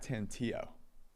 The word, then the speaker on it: Tantillo: to shout out um zach tantillo because that's how you pronounce his last name who um is a